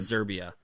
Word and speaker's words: Serbia: of those patents were i believe they pronounced it serbia like with a z exactly like currently used